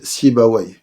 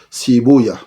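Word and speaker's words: Sibawayh: Les savants de la langue arabe disent Rahaway, comme ils disent Sibaway. Les savants du hadith disent Rahuya, comme ils disent aussi Sibouya. Mais c'est juste une différence de prononciation, mais il s'agit ici de la même personne.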